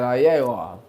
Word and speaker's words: Iowa: That's how you say it, Iowa.